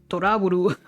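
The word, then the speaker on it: To Love-Ru: Right, they say it like Toraburu, right?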